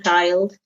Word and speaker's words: child: so you have one child two children three children four children so you have to notice the the pronunciation changes they've got child it's kind of a diphthong child and then in plural